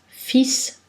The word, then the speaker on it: fils: La lettre L n'est pas prononcée devant un S, fils, pou, et après la combinaison de voyelles AU, et en fin de mot, Renaud, Thibault.